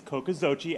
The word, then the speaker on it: Cocoxochitl: a quick speech uh 140 characters but uh kokozochi people ask me how to pronounce it it's kokozochi aztec word for school gardens um need venture